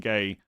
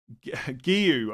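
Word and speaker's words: Guéhi: Bench booster, Bravka, Anderson, Konza, and Gay. Yes, you could do, but Gay might... Giyu, I think is how you say it.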